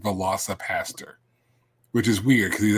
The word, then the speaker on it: Velocipastor: Velo aaster but and no I'm not mispronouncing that she did not mispronounce that we said velosa Pastor which is weird because